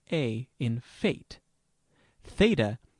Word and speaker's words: Theta: Theta has the sound of TH in thin.